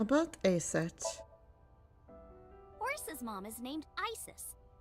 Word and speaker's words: Aset: How about Aset? Horus's mom is named Isis, but in ancient Egyptian it's pronounced closer to Iset or Aset.